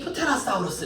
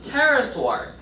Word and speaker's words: pterosaur: 마지막 14번 읽어보라 그랬더니 프테라사우루스 이렇게 읽어. 그건 우리나라 그렇게 읽는 거고요. P에다가 괄호 쳐줘. P가 묵음이야. 그럼 어떻게 읽냐면 따라 읽어줘. pterosaur.